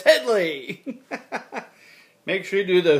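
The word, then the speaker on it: Hedley: That's Headley, not Hedy. Hedy Lamarr. No, it's Headley.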